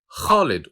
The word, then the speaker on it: Khalid: The name Khalid also starts with the Kh sound. I know this sound doesn't exist in the English language, but it is easy to pronounce it. Just scratch the back of your throat and say Kh, Kh.